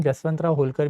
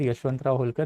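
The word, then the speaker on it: Yashwantrao Holkar: बट by this period of the time Marathas had become two week, even जसवंतराव होलकर भी अब मर चुके थे। जसवंतराव होलकर, यशवंतराव होलकर, this is वन एंड the same personality, जसवंत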